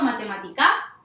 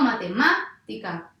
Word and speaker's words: matemática: Yo digo matemática, no, aguda no va a ser. Digo matemática, no, grave tampoco va a ser. Digo matemática, sí, digo matemática.